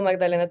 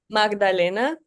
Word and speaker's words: Magdalena: represented um and so Magdaleno was our first attempt how how do you pronounce that I'm sorry Magdalena okay it's in Spanish great okay all right